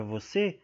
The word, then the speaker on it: você: Na palavra você, a última sílaba é a tônica, porque está acentuada, né? O você.